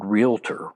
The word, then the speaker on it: realtor: Three syllables. They drop an a in there.